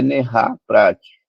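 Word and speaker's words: נהר פרת: A formatação verbal, veja, eu tenho uma formatação verbal, que é Nerá Prate. Então, anotem, Nerá Prate é como se fala rio Eufrates, que é o rio que eles iam atravessar, né?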